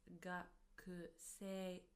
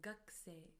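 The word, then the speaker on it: 学生: Although we write it as gakusei, we pronounce it as gakusei, gakusei, as if the u from ku disappears.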